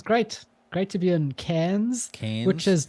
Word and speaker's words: Cairns: Yeah, it's spelled Cairns and it's pronounced Cairns.